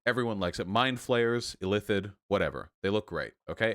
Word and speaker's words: illithid: all know illithid right illithid illithid illithid illithide illithid illithid i think i think you stress the second everyone loves illithid okay